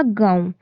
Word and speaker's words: गाँव: नून silent होता है उसमें, गाँव में नून का नुक्ता